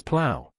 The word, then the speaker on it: plough: is spelled as p-l-o-u-g-h the correct pronunciation of this word is plow plow plow